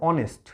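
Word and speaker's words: honest: আবার দেখো অনেস্ট, বললাম অনেস্ট ম্যান, অনেস্টের এখানে এইচটা কিন্তু সাইলেন্ট, এগুলো সাইলেন্ট থেকে যাচ্ছে, তাই না? হনেস্ট বলি না আমরা, অনেস্ট বলি, অনেস্ট বলি।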